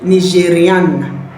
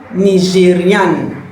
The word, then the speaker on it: Nigériane: I'll say je suis Nigériane. Je suis Nigériane. Because I am female, that is why you can hear the letter N at the end of the pronunciation.